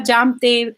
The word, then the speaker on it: Jamte: And so Jamte, in my name, the J is not silent. And somebody might think that the J is silent and might refer to me as Amte.